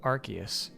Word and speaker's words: Arceus: a segment where they're like here's how to pronounce some Pokemon's names first was Arceus they're like it's called Arceus and I'm like I know next was garganacle